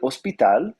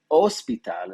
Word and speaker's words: hospital: El hospital, the hospital. Remember that H is silent, so el hospital instead of el hospital, right?